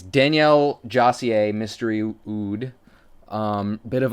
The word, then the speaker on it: Daniel Josier: time I did it I think it's Danielle jier mystery oud um bit